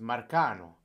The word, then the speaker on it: Marcano: That's pronounced Marcano. That's Italian for you. Marcano, not Marcano.